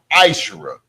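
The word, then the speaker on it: מעשר: Malachi 3:8-10 means tenth in the Hebrew and it's pronounced maisher.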